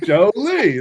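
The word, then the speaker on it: Joly: It's the only way I remembered how to say his last name. Right, understandably. And that's your fault, Ryan, because you. It is. We went over the pronunciation. I was like, Jolie, look at Angelina.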